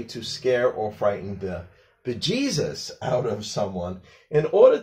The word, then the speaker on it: bejesus: We don't want to say the dirty words and we're saying a word that formed from by Jesus, but it's actually pronounced Bejesus.